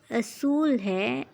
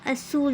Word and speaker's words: اصول: کی پڑھائی کرنی ہے۔ یہ ورڈ اصول ہے اصول نہیں۔ اس کے اوپر پیش ہے، اس لیے ہم اس کو اصول پڑھیں گے۔ یہاں پہ ہم اس